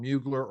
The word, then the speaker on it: Mugler: late 19th century case called mugler or muggler depending on who you talk to in terms of the pronunciation in which the state